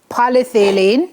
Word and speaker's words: polyethylene: wholly or partially of polyethylene, so you pronounce it? Polyethylene. Polyethylene, polypropylene, or polylactic acid will be prohibited.